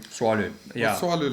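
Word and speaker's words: Tswalu: Have you been to how do you pronounce it? Swalu? Swalu, yeah.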